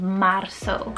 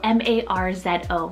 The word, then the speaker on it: Marzo: here that is so handsome is the name marso spell m-a-r-z-o marso or marzo and this one actually means